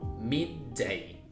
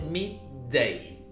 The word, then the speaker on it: midday: una como están viendo es una palabra que tiene dos d juntas entonces directamente mid day hacen una d bien pronunciada no es necesario que traten de decir dos de juntas no Simplemente una bien pronunciada mid day y a